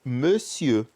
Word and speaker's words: monsieur: A gente diz monsieur, tá? O R não vai se pronunciar e o ON não se pronuncia como O. É me, tá? Monsieur.